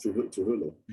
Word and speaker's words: Trujillo: Trujillo.